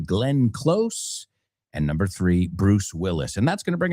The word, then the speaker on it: Bruce Willis: We always uh Well, we talked about him recently because we were saying how my friends in Al Media pronounce his name. Yes, I'm talking about Brew Willie. Well, no, Bruce Willis.